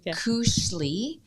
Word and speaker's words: Koselig: the name wrong again kushley uh counseling so that's k o s e l i g nothing like it sounds yeah it's a tricky one counseling c u n